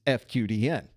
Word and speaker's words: FQDN: In this case, we're using it correctly because the FQDN is pronounced FQDN instead of a word there.